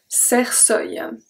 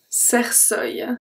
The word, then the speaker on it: cercueil: So if we read the first one, it's going to be un cercueil. Un cercueil. Because the C is followed by a E, it's going to turn into S.